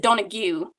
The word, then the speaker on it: Donoghue: he was from Island no area well I pronounce it Donna Q because that's how my grandmother announces it it's